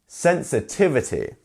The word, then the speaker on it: sensitivity: sensitivity sensitiv ity um how many syllables do we have sensitivity sensitivity five syllables so one of these syllables has the stress can you find it sensitivity sensitivity which one is it it's our tiv right because we have our apostrophe and our DOT here sensitivity not sensitivity or sensitivity or um